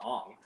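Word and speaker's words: Aang: be the guy's like well actually his name is ang not Ong but now I'm just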